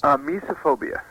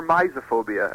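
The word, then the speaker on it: mysophobia: Mesophobia. Mesophobia. Mesophobia, yeah, or misophobia, as people pronounce it differently.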